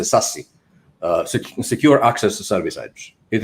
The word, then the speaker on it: SASE: It means, actually they pronounce it SASE, Secure Access Service Edge.